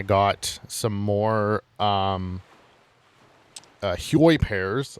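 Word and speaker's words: Hyoi: So, offscreen, I went off and uh and I got some more um uh Huoy pairs. I think that's how you pronounce them. I think it's pronounced Hoy.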